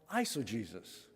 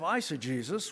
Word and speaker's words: eisegesis: That kind of interpretation is called eisegesis. So let's just get into the weeds just a little bit this morning, okay? Eisegesis, it sounds like Jesus is in that name, but it's spelled differently, okay?